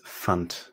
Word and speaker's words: fand: So in the simple past tense, this verb becomes fand. Fand. Now notice that D is pronounced like a T because it's a D at the end of a word.